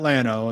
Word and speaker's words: Llano: There's a town called, there's Llano, it's 2 L's and then A-N-O, and they call that Llano.